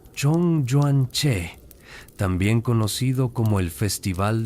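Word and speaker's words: 中元節: Los chinos celebraban y aún celebran el festival Jong Joan Y pronunciado Chong Juan Che, también conocido como el festival de los fantasmas que típicamente ocurre en agosto o septiembre según el calendario lunar.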